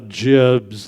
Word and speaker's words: gibs: So it's id, and while I'm at it, it's gibs, like giblets, not gibs.